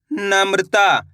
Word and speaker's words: नम्रता: अब उच्चारण किस तरीके से करेंगे चलिए देखिए, ना माँ में रापदेन की मात्रा मृ, ता माँ की मात्रा ता तो मिलके बन जाएगा नम्रता। कैसे पढ़ेंगे नम्रता।